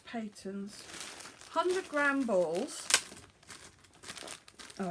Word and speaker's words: Patons: that specifically says that I've heard some people pronounce this as pattern as well but I thought it was patons 100 gam balls oh